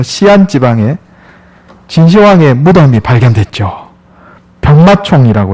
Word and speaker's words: 시안: 최근에 중국 시안, 서안이라고도 하지만 중국 발음으로 시안 지방에 진시황의 무덤이 발견됐죠.